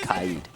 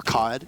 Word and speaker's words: Kaid: It can beat the Cade, or the Kaid, pardon me. That's what the people who play this game call him. Yes. Because it looks like Cade. Mm-hmm. It's spelled Cade, pronounced Kaid. Or Kaed, if you're Milosh.